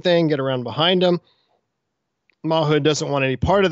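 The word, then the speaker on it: Mawhood: command of a man named Charles Mahood um mood I looked that up I think that's how you pronounce it on January 3rd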